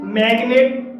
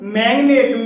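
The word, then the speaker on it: magnet: जैसे मैग्नेट, मैग्नेट में जी के बाद एन आया है लेकिन जी साइलेंट नहीं है, तो ऐसे शब्दों को हम अपवाद कहते हैं।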